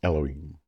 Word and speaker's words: Elohim: the Hebrew word Halloween I'm trying to pronounce but generally pronounced Elohim now in Hebrew anytime